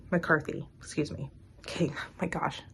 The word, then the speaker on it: McCarthy: so the dark goddesses Oracle deck by Katherine mccardy McCarthy excuse me okay my gosh excuse me totally butchered the name Kaitlin McCarthy my apologies um